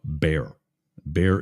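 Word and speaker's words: Baer: operative officer named Bob be bear is spelled b AE R I think like Brett Bear of Fox News three season series it's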